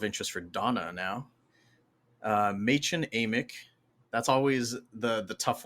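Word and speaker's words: Mädchen Amick: for Donna now uh ma amch that's always the the tough one to pronounce right but yeah I actually looked that up and um it was pronounced ma Amic as Shelley Johnson a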